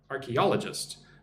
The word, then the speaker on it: archaeologist: Archaeologist. Put the emphasis on all.